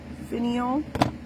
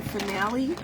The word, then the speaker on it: finial: We're using the finial. Every time I say it, I'm like, am I saying it correctly? I kept calling it a finale.